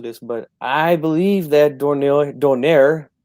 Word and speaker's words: Donaire: but I believe that Donaire, or how should I say it, Donaire, right? I'm trying to pronounce things correctly. This is not, you got to do it in Spanish.